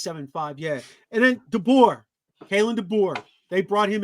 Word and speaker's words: DeBoer: Man, you think, okay, how you pronounce Deboer, whatever his name is? Deboer.